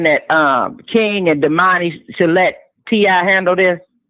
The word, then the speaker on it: Domani: They took that whole victim scheme and made Demani and his name is pronounced Demani.